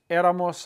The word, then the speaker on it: éramos: Add M-O-S, put an accent on the E because the stress is three vowels back. Todos éramos amigos.